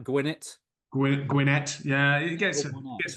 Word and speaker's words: Gwinnett: so I suppose yeah two n so it would be gwin net yeah yeah Excell that's